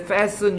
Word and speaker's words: fasten: 안전벨트 매세요 할 때 fasten your belt는 T는 발음 안 해 이때 fasten your belt